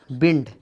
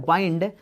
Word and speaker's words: wind: दोस्तों एक वर्ब है विंड, इसे हम विंड तब कहते हैं दोस्तों जब हम इसे नाउन की तरह यूज करते हैं, तब हम इसका करेक्ट प्रोनाउंसिएशन विंड होता है। अब अगर हम इसे नाउन की तरह यूज करें तो इसका सेंस होता है दोस्तों मूविंग एयर, आई मीन हवा का बहना। दोस्तों अगर हम इसी WIND को वर्ब की तरह यूज करें तो इसका प्रोनाउंसिएशन हो जाता है बाइंड।